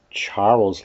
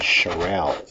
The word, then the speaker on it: Charles: temperature and volume and you might call it Charles law in Michigan but the rest of the world we pronounce it charel there's Mr Charelle he